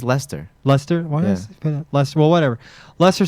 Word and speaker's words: Leicester: do you say it how do you say it it's just it's just Lester Lester Lester well whatever